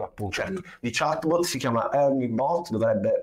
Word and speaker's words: ERNIE Bot: sorta di competitor appunto di chatbot si chiama ernie Bot dovrebbe pronunciarsi così o scritto ernie Bot ernie ernie